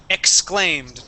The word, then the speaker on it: exclaimed: exclaimed exclaimed exclaimed okay now we want to pronounce a k sound there X exclaimed try that one more